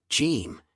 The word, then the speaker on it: ج: roof of your mouth it sounds similar to but not exactly the same as the English letter J in words such as